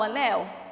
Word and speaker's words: anel: Anel. Vamos chamar o anel? Anel. Qual é a sílaba tônica? Nel. A última sílaba.